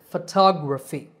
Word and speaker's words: photography: syllable foe so photograph the next two words are photographer and photography in these words the stress is on the second syllable it becomes a long tah and the other vowels become short so photographer and similarly photography the last word is